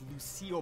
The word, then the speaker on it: Lucille: so it's always a Shaq's Mom this is pronounced Lucille by the way I said Lucy in the intro anyways anyways mac and cheese